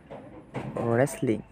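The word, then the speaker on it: wrestling: পারছো এখানে হ ছিল ওকে তারপর এখানে দেখো রেসলিং রেস্ট লিংক রেস্ট লিং কিন্তু এখানে এই দেখো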